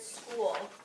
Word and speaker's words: school: letter in the word school what is the letter that or this sound that we don't really hear jeffrey the h complete sentence yeah we don't really hear the h it's kind of like